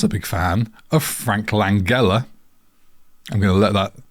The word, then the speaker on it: Langella: Is it Langella or is it Langella? It's Frank Langella, like It's Bongella.